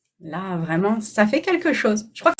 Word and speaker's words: Faye: Angélique, si tu peux remontrer le livre, c'est fait. C'est La prophétie de lumière, tome 1, Faye. Comment tu le prononces?